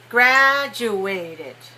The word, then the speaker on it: graduated: from college okay stop you're still putting a little bit too much stress on the third syllable so i want you to put it on the first make the first one long and high after i graduated from